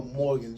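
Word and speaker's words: Morgans: do we Okay uh it says wait well Morgan um that's say his name right yes it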